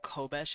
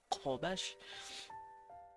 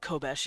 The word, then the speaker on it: Kobesh: Now, I know that sounds like a K, kind of, but it's actually a Q. It's like a K, but further down the throat. Instead of Kobesh, it's Kobesh. But you can pronounce it Kobesh if you want with a K sound.